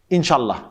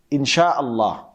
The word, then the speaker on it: Insha'Allah: Or some people say Inshallah, Inshallah. That's actually wrong. It should be Insha'Allah. Insha'Allah.